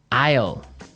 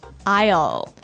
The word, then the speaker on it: isle: Isle. Islele. A I S L E. Isle. Isle. It's a tricky word. It sounds like the contraction of I will.